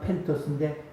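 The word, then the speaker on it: πένθος: 헬라어로 눈물은 발음하면 펜토스인데 깨진 마음과 통해하는 마음입니다.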